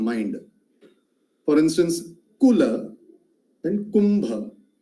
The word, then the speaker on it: Kumbha: For instance, Kula and Kumbha. You will notice that the time taken to pronounce Ku in the word Kumbha is almost twice to the time taken to pronounce Ku in the word Kula.